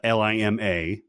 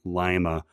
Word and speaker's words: Lima: be heard saying uh l-i-m-a uh however he pronounces it the wrong way saying lima rather than lima which is the correct pronunciation okay let's go to